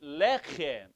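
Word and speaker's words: לחם: the first syllable takes, whenever you have a double segol, a consonant and a segol, an E, a consonant and an E, then the first syllable takes the accent.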